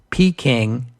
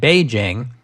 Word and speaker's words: Beijing: that in 1927 most English speakers called these cities P King and Nan King these were spellings that early Western missionaries in China created for those cities although in our day we spell and pronounce them naning and Beijing which are closer to the Chinese pronunciations and these are the